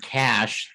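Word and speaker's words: cache: conversant in technobabble that the word cash we've been talking about is not money. It's spelled C-A-C-H-E. And it's a little place where you can stuff things. It's, you cash it.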